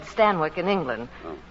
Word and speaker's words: Stanwyck: Well, that's how they said Stanwyck in England. Oh. Stanwyck, it rhymes with Zanuck.